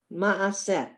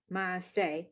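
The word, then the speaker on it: מעשה: Ma'aseh. Maaseh. The hey at the end is silent.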